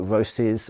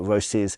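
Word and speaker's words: Roces: And yes, I pronounce it Roses. Most people in English-sp speakaking countries seem to be pronouncing it Roses, although it is an Italian brand.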